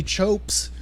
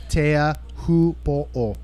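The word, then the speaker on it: Teahupoʻo: That's a great history, but for the lazy Americans, we've opted to just say chopes. And everybody knows what you're talking about, but the proper pronunciation, if spoken slowly, Tea Hupo'o.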